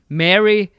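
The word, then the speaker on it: Merry: Well, I think it's M A R Y, which in the United States of America, most people pronounce like your name in Lord of the Rings.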